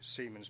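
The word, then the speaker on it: siemens: the reciprocal of that for conductivity would be semen per meter and yes I do pronounce that correctly um if you want to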